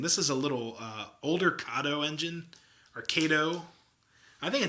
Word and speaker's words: Kato: Kato is a correct Japanese pronunciation.